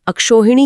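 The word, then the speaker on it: अक्षौहिणी: बिल्कुल इसका उच्चारण थोड़ा कठिन है क्योंकि ये प्राचीन काल की एक विशिष्ट सैन्य टुकड़ी का नाम हुआ करता था। अच्छा आर्मी फॉर्मेशन हां ऐतिहासिक रूप से इसका उच्चारण अक्षोहिणी ही रूढ़ हो गया। अगर गणितीय नियम लगाया जाता तो अक्ष का अ और उहिनी का उ मिलकर अक्षोहिणी बनना चाहिए था ओ की मात्रा के साथ।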